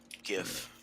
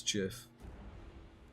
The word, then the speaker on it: GIF: and this is him gif that's no that's not how it's pronounced it's Jiff we'll get two more storm Vermin recruiting so now that's four bring me up to 18.